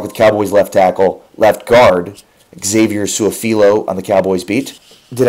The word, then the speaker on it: Su'a-Filo: If you really just read it, how it's spelled, Su'a-Filo, makes sense, right?